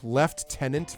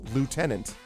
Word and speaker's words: lieutenant: from like the like left tenant versus lieutenant. Like how do you get left tenant out of Li Eu T? Especially when the American pronunciation is lieutenant.